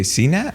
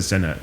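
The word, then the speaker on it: Cenat: Did you say CNAT or? No, I said Senat.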